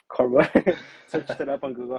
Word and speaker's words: Corbeau: Me at first, I was saying like my name wrong, but yeah, eventually I was like, okay, it's Corbeau. Searched it up on Google how to Is pronounce it it.